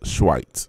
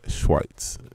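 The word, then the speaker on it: Schweiz: origin is actually Switzerland Switzerland in German is pronounced schweit so I'm going to go s c h w and I see it here schweit so that's the country of origin for for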